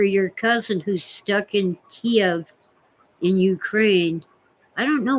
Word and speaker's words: Kiev: It's still Kiev, not Kiev, Jan.